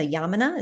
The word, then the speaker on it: Yamuna: of our listeners haven't, the body rolling, the Yamuna, is that how you say it? Yeah, it's Yamuna body rolling.